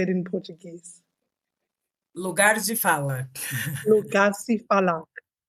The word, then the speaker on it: Lugar de fala: Lugar de fala. Lugar se fala. Lugar de fala.